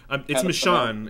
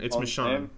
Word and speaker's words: Michonne: Why do you say McCone? Long up the comic, but I believe Google how to pronounce my. You know, Google. It's Michonne. It's Michonne.